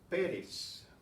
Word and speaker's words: Pérez: Pérez has an accent. Why? Well, it's not an ending in an N or an S or a vowel, but it's still stressed on the next to the last syllable. So it's the other way around. We have to write the accent on this guy's last name because his stress is on the first syllable and it doesn't end